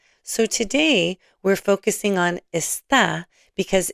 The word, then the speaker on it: está: So note that está has an accent mark. Say this with me. Está. ¿Dónde está? ¿Cómo está? Without the accent mark, the word is this. You've been saying this in many lessons already. Let's read these together and hear the difference. Esta mañana. Esta tarde. Esta noche. The accent marks are there to help you with pronunciation.